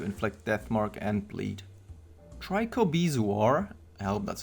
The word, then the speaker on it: trichobezoar: basically guaranteed to inflict death mark and bleed trichobezoar help that's how you pronounce that has the best chance against very